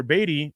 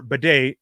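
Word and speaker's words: Badie: Season without Tyler batty Tyler batty or Beday excuse me still getting adjusted to his to how you're pronouncing his name um how he changed the pronunciation pronunciation of his name anyways Tyler bedet going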